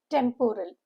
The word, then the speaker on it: temporal: Syllable break is 3. Temporal. Stress is on the first syllable. The pronunciation guide teaches us it is temporal.